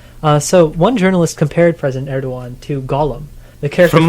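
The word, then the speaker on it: Erdoğan: unflattering comparisons between President Erdogan. I want to spell that for you. Erdogan. Yeah, the G has like a little curve, and in Turkish apparently it makes it pronounce like w.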